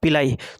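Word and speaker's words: pili: ठीक है, अब बात करते हैं पिलाई। तो इसी को पीली या पिलाई में जनरली जो है इसका जो प्रोनाउंसिएशन होता है पिलाई होता है।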